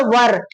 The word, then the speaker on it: where: Then where नहीं पढ़ना है, where this is नॉट अ where, this is अ वर। where के spelling अलग है, ध्यान में रखना। कितने लोग where पढ़ाते हैं, he where he this what ब्ला ब्ला, ऐसा नहीं होता है। वर, वो वाला वर नहीं, ऊपर वाला वर नहीं, ठीक है, इंग्लिश वाला वर है।